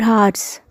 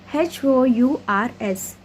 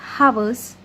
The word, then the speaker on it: hours: H-O-U-R-S. H is silent there. I pronounced it as hours instead of hours.